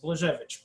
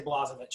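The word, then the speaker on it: Blazhevich: free it's right there it's free so the blazovic clef studies in clefs in russia that's pronounced blejevich but we say blasovich here in america so this guy um wrote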